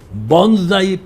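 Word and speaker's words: bonsai: इसको जापानी में कहते हैं बोंजाई बी ओ एन एस ए आई S pronounce Z बोंजाई politician वो जापानियों ने एक तकनीक बनाई है कि शीशम का दरख्त है।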